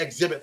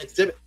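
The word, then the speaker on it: Xzibit: Exhibit. He was born September 18th, 1974 in Detroit. Shout out to all those in Detroit. He was born Alvin Nathaniel Joyner, a.k.a. Exhibit, pronounced Exhibit.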